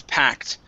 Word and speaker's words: packed: word packed right here instead of packed okay this is packed so covering a packed